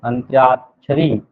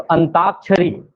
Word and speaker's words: अंत्याक्षरी: अंत्याक्षरी में अनतयाक्षरी, अंत्याक्षरी तो अंताक्षरी ऐसा बोल देते हैं, तो वो गलत उच्चारण है।